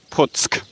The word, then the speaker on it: Puck: the p um the c in polish is pronounced sir so it's puts and uh so that's why i'm right now